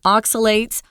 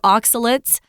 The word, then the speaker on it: oxalates: Red meat, foods rich in oxalates or oxalates. You can pronounce it either way.